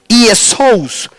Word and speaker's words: Jesús: Entonces nosotros deberíamos pronunciar Jesús. Jesús.